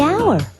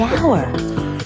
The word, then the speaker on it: hour: owner the animal the hour wait H is not a vowel sound it's a consonant sound but it's not the first sound the H is silent the hour but what about the